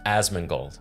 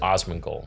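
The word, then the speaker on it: Asmongold: it's so it's pronounced asman gold yeah cuz people in the comments wait how did you pronounce it Osman gold Osman like Donnie Osman gold yeah yeah more or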